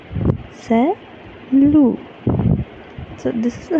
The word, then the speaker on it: salut: who is known to us, we will say salut, salut. So this is how you need to pronounce whenever you are saying goodbye to a person whom you know very well, right?